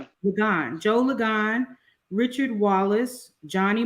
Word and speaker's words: Ligon: Is that how you pronounce his last name? Ligon.